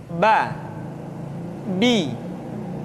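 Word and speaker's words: ب: Huruf Ba dikeluarkan dengan cara merapatkan kedua bibir kita. Ba, Bi, Bu. Ketika mati, maka terdengar suara pantulan. Bab. Kesalahan sering terjadi, seringkali Ba lupa untuk dipantulkan suaranya.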